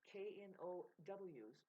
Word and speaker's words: knows: I have, yes, beyond your KNOWs. Really, it's your NOSE. Babe, K-N-O-W. The K is silent.